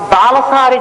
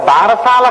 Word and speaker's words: బాలసారే: గబగబా తల ఏదో ఆ బాలసారి చేస్తుంటారు బాలసాల కాదు బాలసారే బాలసారే అంటే బాలునకు ఇస్తున్న సారే కాలుక దాని బాలసాల బాలసా బాలసాల బాలసాల ఎంత భారమైనా ఎక్కించారు అసలు దానికి ఉచ్చారణ బాలసారే బాలసారే యందు ఆ ప్రసవమైనటువంటి తల్లి